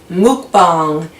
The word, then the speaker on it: mukbang: your first buck buying as Trisha Paytas says mukbang as I believe is actually the proper way to say it I hope you